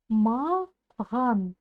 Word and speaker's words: маған: Попробуйте сказать махан через букву Х, а затем чуть-чуть звонче произнести букву Х. И у вас получится буква Г.